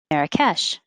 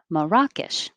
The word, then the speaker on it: Marrakech: would put it at the end or beginning marrakech but you'll also hear more correctly maracas 19.